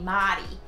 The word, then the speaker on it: Mary: Or as they say here in Brussels, they would pronounce Mary Madi.